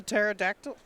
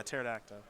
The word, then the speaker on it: pterodactyl: they do have you never heard of a pterodactyl that's not how that's pronounced at all is that how it's pronounced no yeah that's how it's spelled though the the peace silent yeah yeah pterodactyl i i'm getting i got a brush up